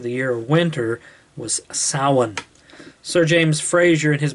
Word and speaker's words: Samhain: summer in summer's end i should say misawan is spelled s-a-m-h-a-i-n but it's pronounced samhain and the celtic people